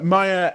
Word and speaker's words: Mair: interview introduction um yeah my name is maya if you can speak welsh and maya if you can't don't worry about the